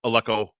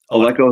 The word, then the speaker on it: Aleco: Oh, and it's Alco. Did I say it right? Alco is on the uh Yeah, my that's my full name.